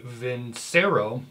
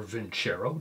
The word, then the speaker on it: Vincero: middle of April so this is the vents arrow or vent Cheryl depending on how you want to pronounce it vessel now of course